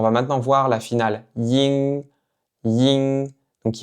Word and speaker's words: ying: Donc encore une fois, faites attention de ne pas prononcer le G à la fin. Ne dites pas ying, ying. Dites seulement ying, ying.